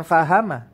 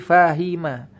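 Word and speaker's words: فَهِمَ: bisa lihat alima fahima Bukan fahama tapi fahima karena dia ikut fa'ila loh Ini dari mana ini menentukan Kenapa fahima ini tidak ikut fa'ala sajaah bahasa Arab Ini diucapkan adalah sesuatu yang sudah ada di kalangan orang-orang Arab mereka memang mengucapkan fahima itu fahima bukan fahama jadi pengkategoriannya adalah berdasarkan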